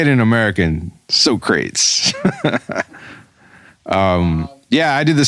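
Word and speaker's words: Socrates: were at first i thought his name was pronounced as sokrates like literally and but i mean because again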